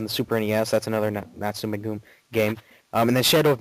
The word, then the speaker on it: Natsume: made by, and I don't know if I'm pronouncing this right, Natsume maybe? Natsume, that's how I usually say it. Yeah, it's Natsume.